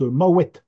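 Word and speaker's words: Mahouet: vous l'avez peut-être remarqué tout à l'heure Arthur prononce maouette maouette voilà hein parce que il veut bien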